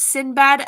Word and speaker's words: Sinbad: my friend please anyway oh and sinbad that's pronounced sinbad it's another movie i like but sinbad is